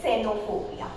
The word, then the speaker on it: xenophobia: And if we are using the X in the beginning of any sentence, then it produces S sound. For example, we pronounce it as xenophobia. So it produces S sound. So if we are using X in the beginning, then it produces S sound like xenophobia.